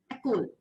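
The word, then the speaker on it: école: Ecole. So मैंने यहाँ पे Ecole पढ़ा. यहाँ पे जो E था वो साइलेंट हो गया.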